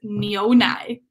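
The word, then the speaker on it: 牛奶: Tobias, it's Nionai.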